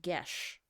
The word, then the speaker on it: geas: Mm, Google says it's pronounced Gesh.